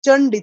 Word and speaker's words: চণ্ডী: এই যে চন্ডী, চা, চন্ডী নয় চন্ডী, চা। এই হচ্ছে সংস্কৃতের উচ্চারণ।